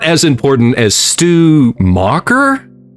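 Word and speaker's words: Stu Macher: Kenny is important, but not as important as Stew Mocker. Yeah. Is that his name? Stomacher. It's actually It's pronounced Stomacher.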